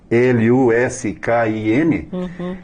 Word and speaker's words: Luskin: Fred Luskin, como se escreve pronunciado assim mesmo, Luskin, e aí vai aparecer a biografia dele, o livro, e também esses 9 passos para o perdão.